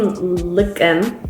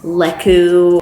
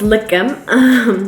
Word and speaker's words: Lekem: And I mean, I think my name Lekem, which is how you pronounce it. It's not just Lekem or Leku. It's Lekem. That's how you pronounce it. You stress the K. It's a little harder.